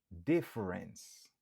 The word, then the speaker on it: difference: Difference. Difference. Difference. Kon sa ou gen dwa tande yo di difference. Yo fait 2 syllabes.